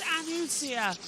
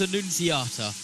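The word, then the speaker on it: Annunziata: So Thomas Anusia is out. Absolutely amazing pronunciation from Joshua Burch. Is that correct? What is it? Thomas Anuniata.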